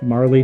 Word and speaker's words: Marle: But same thing for Marley. Like, I know her name is Marl, or at least some people pronounce it Marl, but I always called her Marley.